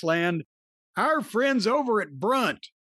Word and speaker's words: Brunt: our friends over at Brunt. It's spelled like grunt except with a B because you will not grunt when you put these on.